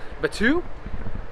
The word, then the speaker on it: Batuu: Batuu.